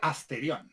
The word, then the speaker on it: Asterión: Lo único que se pronuncia Asterión, Oh, ¿no? Asterión. mil disculpas, mi griego no es muy bueno.